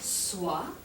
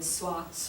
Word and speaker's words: soit: So anywai, so the different forms of être are pronounced soit, and then soit, same pronunciation, soyons, soyez, and then soit again, soit.